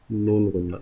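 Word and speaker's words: نون غنہ: Okay, noon gunna, noon gunna. It's similar to noon, but it does not contain any dot in it, and it is pronounced as noon gunna.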